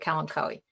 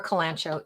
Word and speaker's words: kalanchoe: Well, it's definitely my favorite kalanchoe, and or kalanchoe. Either pronunciation is correct. I looked it up in Wyman's Gardening Encyclopedia years ago, and both are considered correct.